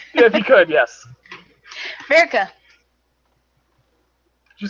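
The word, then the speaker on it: Birka: mispronounce it because my hearing's not the best. Okay. Virka.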